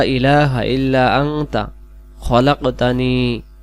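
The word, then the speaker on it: خَلَقْتَنِي: ব্যতীত কোন উপাস্য নেই খলাকতানি ওয়া আনা আবদুকা খলাকতানি ওয়া আনা আবদুকা খলাকতানি এটা আমরা খালাকতানি পড়বো না বাংলাতেও লিখে দিয়েছি খলাকতানি আনা আবদুকা এইটা হলো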